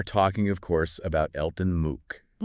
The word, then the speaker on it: Mook: We are talking of course about Elton Moo. Moo. M O K pronounced MOO.